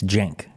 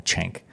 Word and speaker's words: Cenk: I think real life how do you actually pronounce it because every like Jen it's Jen but we can call him chank maybe he lets the